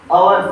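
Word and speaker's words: hour: एन लगेगा, क्या लगेगा, देखो इसको अपन पढ़ते हैं आवर, तो ए एन लगेगा क्योंकि इसकी उच्चारण क्या आता है, आ रहा ना, तो इसमें क्या लगेगा,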